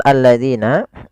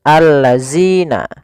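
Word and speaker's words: الذين: Kemudian hati-hati pada lafal alladzina, jangan sampai kita membacanya zina, misalkan allazina. Nah, ini kurang tepat atau salah. Kenapa? Karena dia merubah huruf antara huruf zal diganti dengan huruf zai.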